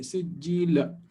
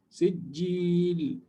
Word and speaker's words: سجيل: Make sure that when you finish this ayah, you pronounce the lama, because some people tend to mispronounce it or make it invisible, right? They will say something like ترميهم بحجارة من سجيل without قلقلة. Don't say سجيل. سجيل. Okay, it still has to be heard.